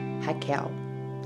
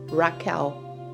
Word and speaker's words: Raquel: My name is pronounced Raquel. It's not Raquel, Rachel, or another name.